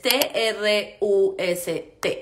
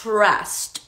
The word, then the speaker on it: trust: se dice en inglés t r u s t Trust Trust Trust lo que pasa con esta palabra es número uno tenemos que pronunciar la r suave no r sino TR TR en lugar de